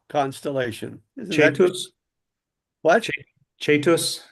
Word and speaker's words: Cetus: I pronounce Latin as if I were an Italian. That's what the priest taught us. Hmm. And there's an older way where that would have been Ketus, right?